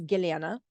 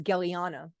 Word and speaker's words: Gellyahnah: I was born as giliana I was born in the former Soviet Union well most Americans can't pronounce my name is giliana they say back as Galiana so that's what I